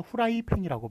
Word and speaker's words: 프라이팬: 표기하는 것이 되겠습니다 자 우리가 후라이팬이라고 말합니까 프라이팬이라고 말합니까 말할 때는 후라이팬이라고 말을 하죠 그렇지만 외력 표기법이죠 표기법 그렇기 때문에 쓰는 것은 어떻게 씁니까 프라이팬 이렇게 써요 발음하고는 다릅니다 발음하고는 다르기 때문에 그래서 얘네들이